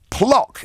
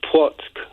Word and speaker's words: Płock: Paul is a new caller from Plock in Poland. Good morning. Good morning. It's pronounced Płock.